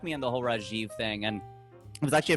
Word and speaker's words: Rajiv: on syllables like here like here you say rajiv or you say rajeev if you want to use the j but there it's rajiv it's just flat like it's not